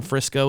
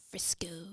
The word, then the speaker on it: Frisco: in frisco as well frisco frisco yeah i like to say that name you do yeah i do yeah i like it a lot it rhymes with my mom's favorite cooking oil crisco my mom made everything